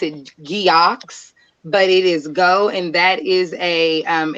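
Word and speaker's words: geaux: geox but it is go and that is a um it derives creo french anytime you put the e a u x anywhere together it makes the sound o so dax to go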